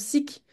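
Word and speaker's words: SCIC: Dans le monde de l'ESS, on prononce SIC et SCOP, même si c'est pas super logique.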